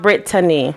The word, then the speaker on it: Brittany: It is pronounced Brittany. That's how you pronounce her name, but we're gonna call her Britt on here.